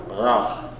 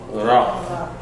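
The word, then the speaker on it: רע: It's not, the roll is not to the front, the roll is from the back. Ra. It's almost a G. Ra.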